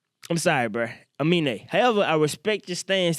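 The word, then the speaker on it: Aminé: Like, by the way, I thought this fella's name was Anime. It's Amine? Is that how you say it?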